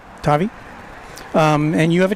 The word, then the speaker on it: Tavi: Um uh did I pronounce it right? Tavi. Tavi.